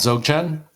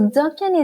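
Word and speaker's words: Dzogchen: lead to dog chain is it dochan not Z Chan Zan I've been mispronouncing have I been mispronouncing it though that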